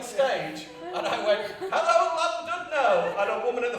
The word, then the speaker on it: Llandudno: I went on stage and I went, hello Llandudno! And a woman in the front lost her fucking shit. Actually, it's pronounced Llandudno! With as much fucking hate as Llandudno! And I was like, no, it fucking isn't.